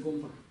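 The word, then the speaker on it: དགོན་པ: здесь интересно происходит случай здесь вот произносится как гомпа почему гомпа я не знаю здесь вот вот эта на назализация такая происходит гомпа Почему Потому что скорее всего Па какая у нас па губная ма у нас тоже губная и получается гомпа гомпа гомпа - это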